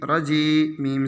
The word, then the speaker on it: رجیم: جیم یا زیر جی، رجی، میم زیر می، رجیمی، اعوذ باللہ من الشیطان الرجیم۔ دیکھیے رجیمی ہجے کیے تھے، لیکن آگے آیت ہے نا تو رجیم پڑھیں گے متنگ میں۔ باسین زیر بس، میم